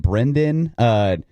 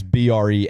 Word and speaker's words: Brennan: I get Brendan. People call me whatever they want, man. But it is Brennan. If you want to be official with it.